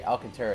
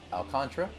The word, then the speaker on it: Alcantara: I'm sure I'll say Alcantara at some point, but I looked online, it's Alcantara.